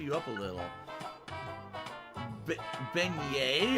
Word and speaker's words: beignet: in all of louisiana i was correct it's pronounced beignet oh cool looks like